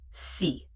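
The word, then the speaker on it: 四: In Mandarin Chinese, the pronunciation of 4 is si. This sounds almost exactly like the word for death, which is ski.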